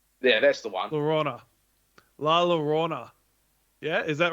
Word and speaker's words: La Llorona: Yeah, Vince, you're on pronunciation for this. Yeah, that's the one. Llorona. La Llorona.